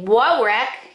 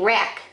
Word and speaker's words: wreck: there's your silent letters you don't say woe wreck you just say wreck there's your silent letters